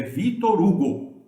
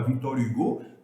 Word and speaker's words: Victor Hugo: Se vocês quiserem falar Victor Hugo, podem falar. Estão pronunciando a pronúncia autêntica francesa, mas eu reconheço que